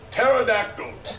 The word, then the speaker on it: pterodactyl: with a p and pterodactyl starts with a T the p is silent why would they do